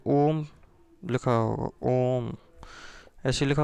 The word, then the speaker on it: ओम: ऐसे जैसे अपन ने ओम लिखा होगा, ओम ऐसे लिखा होता है, तो ये तीन का मतलब है कि इसका उच्चारण, ओ का उच्चारण है ये लंबा खिंचने वाला है।